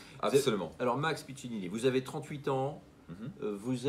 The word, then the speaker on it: Piccinini: Et aujourd'hui, je suis avec Max Piccinini. J'ai bien prononcé votre nom, Max. C'est correct, c'est pas un nom facile, mais... Piccinini. Absolument. Alors, Max Piccinini, vous avez 38 ans, vous êtes spécialisé dans